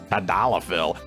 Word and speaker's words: tadalafil: Blue Chew's sildenafil and tadalafil tablets are chewable. They even put a pronunciation guide in there, and I'm still like, bah, tadalafil.